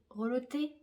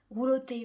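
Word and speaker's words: roulotté: Je vais pas arriver à le prononcer. Reloté. Bref, je pense que vous avez compris. J'ai roulé. Rouloté, voilà, c'est ça.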